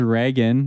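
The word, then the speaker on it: Raygun: she pronouncing it cool her name is rean like Ronald rean Rachel gun oh yeah her last name is gun and um she's kind of like Ronald Reagan but yeah that's a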